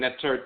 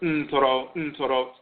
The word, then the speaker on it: Ntorot: This is based upon the major Ntoro and Ntorot, mispronounced Neter and Netert, but Ntorot, the major god and goddess divinities who govern these resins in a specific capacity.